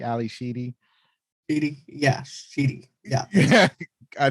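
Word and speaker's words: Ally Sheedy: Ali Shady, as Stephanie Spick. She also played in the Breakfast Club and War Games and High Art. Yeah, I think you pronounce her name Sheedy, Ali Sheedy.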